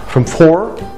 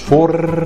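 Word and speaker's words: four: يبقى عندنا from 4 الار بتبقى لدغه ار مش فور زي الشنيور اوكي.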